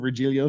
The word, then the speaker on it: Virgilio: that's how he pronounces his name he he pronounces regilio so hey who am I to say that's